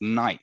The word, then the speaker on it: night: word like night uh the G and the H are not pronounced at all are they in there